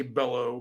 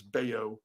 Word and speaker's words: Bello: they say his name every time I see it I say Bellow but it's bao uh he is uh